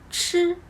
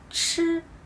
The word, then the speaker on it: 吃: Now, let's talk about 吃吃吃 The shape of your mouth are exactly the same as 知.